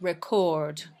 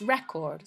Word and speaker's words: record: so for example when it's a verb the stress is on the second syllable record okay when it's a noun it's record so obviously this changes